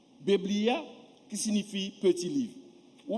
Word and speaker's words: Biblia: le mot français que en latin même prononciation bebllia Biblia qui signifie petit livre